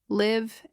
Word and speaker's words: live: Another common pair, live and leave. In live, the I is short. In leave, it is long.